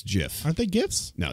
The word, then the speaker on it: GIF: a thing with me it's pronounced jiff fair enough like giraffe like gist it's a thing damnit